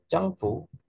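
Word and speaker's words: 臟腑: Changfu, tulisannya zangfu, bacanya changfu.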